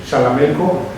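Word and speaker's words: Xalamelco: abonando en este sentido la localidad se llama jalamelco con x jalamelco ellos lo pronuncian con chamelco está en el municipio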